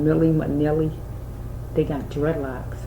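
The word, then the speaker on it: Milli Vanilli: Why I say that is because I'm hearing oh, I'm saying it wrong, Nilly Vanilli, I'm saying it wrong, Millie Manilli, they got dreadlocks, right?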